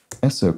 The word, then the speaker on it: Esso: And so it's a sort of a phonetic spelling out of the pronunciation of its abbreviation, of its initials, S-O.